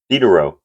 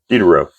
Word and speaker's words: Diderot: Diderot, pronouncing it incorrectly. Diderot.